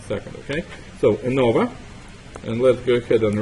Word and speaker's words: ANOVA: Not Avona, but ANOVA.